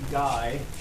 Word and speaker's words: Gay: the office secret okay so this is pronounced guy yes all right so